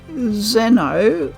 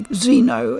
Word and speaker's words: Xeno: best pronunciation for one the word Zeno comes from the Greek it means Outsider basically alien keeping that pronunciation probably makes more sense although many people also say Xeno in the west so take your pick but Xenoblade is probably